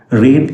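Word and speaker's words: read: ഇഫ് ക്ലോസിൽ റീഡ് എന്നതിനെ past perfect ആക്കണം. റീഡ് എന്നുള്ളതിൻ്റെ V3 ഫോം സ്പെല്ലിങ്ങിൽ മാറ്റമുണ്ടാകില്ല, അതിൻ്റെ ഉച്ചാരണത്തിലെ മാറ്റമുണ്ടാവുകയുള്ളൂ എന്ന് നിങ്ങൾക്കറിയാം.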